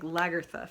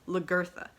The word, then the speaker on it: Lagertha: my hair regularly like lagertha from Vikings always say her name wrong because I always thought it was lagarza and then I watched